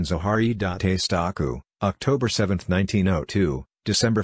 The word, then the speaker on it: Zaharia Stancu: Zaria Stanko romanian pronunciation zaharie dante statue October 7th 1902 December 5th 1974 was